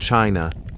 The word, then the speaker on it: qi: In ancient China, wellness was never just about the flesh.